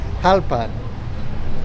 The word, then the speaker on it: Jalpan: Apparently I put the accent on the wrong syllable, and I can't say it correctly.